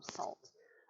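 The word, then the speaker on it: Sault: gonna pick up but it's spelled s-a-u-l-t so if you're reading it um if you're reading it with an english i then just like uh just like basically anything else that has um french origins yeah probably pronounce it wrong i the same as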